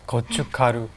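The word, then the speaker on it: gochugaru: look at it it looks pretty hard to pronounce men kucik good you've got all good good kochu karu mm-hmm alright well keeping that in mind and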